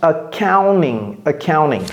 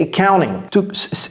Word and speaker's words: accounting: Ça se prononce accounting. Ou bien accounting. Mais on ne prononce pas le T ting dans le mot accounting. C'est accounting. Comme s'il n'y avait pas de T là-bas.